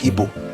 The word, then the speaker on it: Igbo: say the name It's ebo. That's the point. See, when we What did you say? Ebo. That is the typical pronunciation.